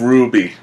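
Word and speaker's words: RWBY: see the preview of Ruby, the new series from Monty Ohm? I think the proper way to pronounce it should be Ruby, because it's a W. Yeah.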